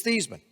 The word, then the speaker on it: Theismann: name I said it's theseman he said no it's not your last name is actually pronounced thighs but I said no it's not my last name is pronounced these he says no Joe